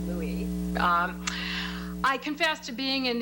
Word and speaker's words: Louis: Turning to the topic of Vicky's presentation about Louis Marshall and Louis Brandeis, I understand he preferred it to be pronounced Louis.